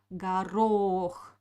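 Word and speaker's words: горох: is greenpeace so uh here we have two letters on the second o we pronounce clearly because uh it is stressed garo but the first o will pronounce like ah because it doesn't have an accent next word is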